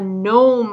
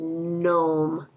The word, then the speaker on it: gnome: a garden fairy is gnome this is the word gnome has a g in front of it but the g is silent we have to go